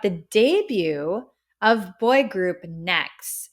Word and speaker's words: NEXZ: debut of boy group Next it's spelled NE exz it's like next Generation it's supposed to symbolize